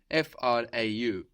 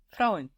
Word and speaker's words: Frau: Die Frau, the woman, is spelled F-R-A-U. It ends in a vowel, but it doesn't really end in a vowel sound. Die Frau. It ends in a W.